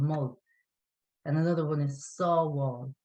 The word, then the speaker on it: Sábháil: And another one is Sábháil. Sábháil. SABH. A father, oh yeah. Yeah, saw. So that all sound is the A father. BH, A father. Sábháil, save.